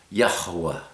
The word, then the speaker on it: Yahweh: Yahwa Yahw. It's two syllables really. Yah and you blow the H so that there's almost a little syllable in front of the second syllable.